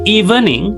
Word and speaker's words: evening: Masih ada yang mengatakan evening itu evening. Tiga suku kata padahal ini tetot ya. Harusnya bukan tiga suku kata tetapi dua suku kata saja.